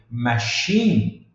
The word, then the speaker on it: machine: com x no final lembre-se que muitas vezes em inglês a o o o som no final é mudo eh não se pronuncia não tem uma vogal ali no final um exemplo né que eu não não mencionei mas na palavra aqui machine machine pode ver que termina tem um e lá na na na escrita